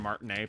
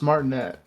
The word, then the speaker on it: Martinet: But not hearing someone other than Martinea playo is like that's going to be weird. Yeah. Is that how you pronounce it? I thought it was Martinette. No, no, it's Charles Martine.